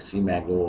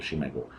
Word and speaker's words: SCImago: इधर you pronounce it सीमैगो और बट I pronounce it शिमागो।